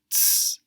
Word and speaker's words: Z: We've already seen how the Z in German is pronounced ts, ts.